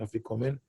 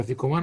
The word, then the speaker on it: afikoman: Here I put it like the Sephardic pronunciation, afikomen. Tell me, how do you say afikoman?